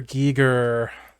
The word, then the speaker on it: Giger: Giger. Oh yes, yes. Giger? I never remember how to I pronounce say it. Geiger, but who knows? He made some amazing stuff.